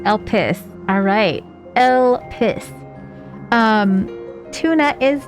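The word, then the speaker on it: Elpis: It is pronounced El Pis.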